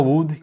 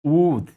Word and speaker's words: would: Pronunciar would com L, né? Então tem que ser would mesmo.